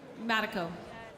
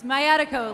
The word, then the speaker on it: Mayatiko: That was Rajani Matiko. I can spell that if you'd like. It's Mayatiko, like sciatica.